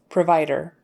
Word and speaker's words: provider: so that o provider it gets lazy because it's not a stressed syllable the Vier is stressed by by provider so it's more like a provider then a provider um in casual everyday